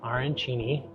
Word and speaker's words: arancini: So we got their arancini, is what I'm told is how you pronounce it.